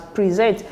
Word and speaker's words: present: first label is strength so it should be pronounced as present okay so let me let's take note of